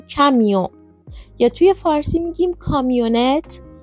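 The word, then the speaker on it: camion: واقع تلفظ هاهم نزدیکه مثل کامیون توی فارسی میگیم کامیون ولی توی فرانسه میگیم کمیو یا توی فارسی میگیم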